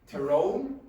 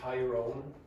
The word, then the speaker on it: Tyrone: is Da for me terone is the pronunciation of that some people say Tyrone fman this is ARA